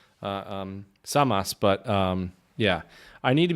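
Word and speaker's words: Servus: Zamas. Samas, but yeah. I need to be careful because the Austrians don't pronounce the S's like the Z as much as Germans do.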